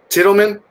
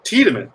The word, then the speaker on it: Tiedemann: name Martin but I I want to mispronounce it Kittleman is that right he moves there Jeff cheetahmen Tiedemann that's it I'm sorry train young kids